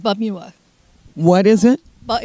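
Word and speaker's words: Pamyua: It's called Bumua. What is it? But it's like Bum-U-Wa, but it's spelled P-A-M-Y-U-A. Wow, it didn't sound like it was... You say bum, the P is silent.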